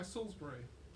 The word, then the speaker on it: Salisbury: Crown Heights it's by Salisbury which is spelt as it's pronounced unlike in England okay and basically this